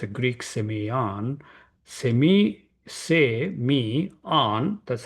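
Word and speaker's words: σημεῖον: So Semeion, Strong's number 4592, it's a Greek Semeion. Me, on, that's how it is pronounced.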